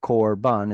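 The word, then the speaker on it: קרבן: syllable and it's unstressed so it's an it's a short o sound Corban and that's actually a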